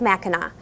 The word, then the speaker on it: Mackinac: at the Mackinac Bridge both are spelled with the French sea at the end which sounds like a w and to further confuse